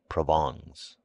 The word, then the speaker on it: Provence: and his wife's relatives from Provence pronounced provens he imported officials by